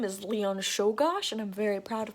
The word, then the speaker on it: Czolgosz: The assassin's name is Leon Czolgosz, and I'm very proud of myself for being able to pronounce that Polish last name.